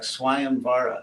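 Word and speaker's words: स्वयंवर: that an ancient India a Sanskrit V was actually pronounced like an English w and you still see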